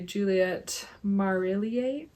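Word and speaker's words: Juliet Marillier: My second favorite is Daughter of the Forest by Juliette Marillier.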